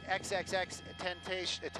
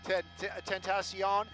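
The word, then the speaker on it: XXXTentacion: they said it's an impromptu memorial to the xxx 10-page at I'm sorry I said it wrong Ted 10th ASEAN and apparently what's going on right now is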